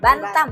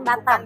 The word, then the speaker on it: Bantam: Bantam bukan Batam.